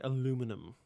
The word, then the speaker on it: aluminum: Now say aluminum. I know some of you overseas peoples say aluminium. I'm aware of that, and that's objectively incorrect. So how's it feel to sound so wrong?